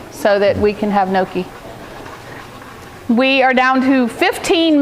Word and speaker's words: gnocchi: It's spelled crazy, but it's pronounced gnocchi. And that's, yeah, Holly, I got that in honor of you so that we can have gnocchi.